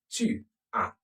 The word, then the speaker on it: tu as: Tu as. The S is silent.